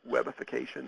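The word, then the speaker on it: webification: ships with support for web ification that's the pronunciation of w1n and uh web ification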